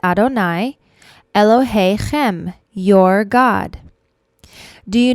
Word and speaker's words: Adonai: the second line says before yudhei vav hey we pronounce it adonai elohei-chem your god.